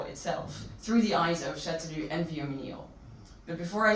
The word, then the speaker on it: Chastellux: You write Chastellux, but you say Châtelus, and it's terrible to remember for most people, but here we go, Châtelus.